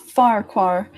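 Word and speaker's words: Farquhar: their name is that is it pronounced the farquar or forfox walk I notice this too it's it's pronounced fire car I actually don't know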